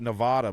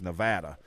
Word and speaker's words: Nevada: a friend from out there I called it Nevada my whole life but it's Nevada is how the people that live there actually pronounced as Nevada Nevada we we all I